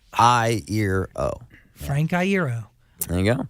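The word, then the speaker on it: Iero: That's how you pronounce it though. I, ear, O.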